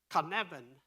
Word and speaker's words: Cynefin: There's one of the tests you have to pass is you have to pronounce his company, and it's Cynefin.